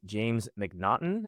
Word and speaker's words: Macnaghten: And our guest today is James McNaughton.